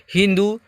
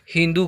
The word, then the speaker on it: हिंदू: वे लोग स का उच्चारण ह की तरह करते थे तथा वे सिंधु नदी को हिंदू नदी कहते थे। यानी यहाँ के लोग सिंधु कहते थे, वे लोग हिंदू कहते थे।